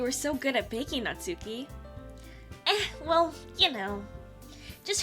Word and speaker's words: Natsuki: Thank you, Natsuki. Why did I say it like that? Thank you, Natsuki.